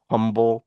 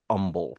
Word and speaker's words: Humble: stuck with me but that's an Umble Texas I know if you're reading this for the first time it looks like it says Humble Texas we do not call it humble here you drop the H and we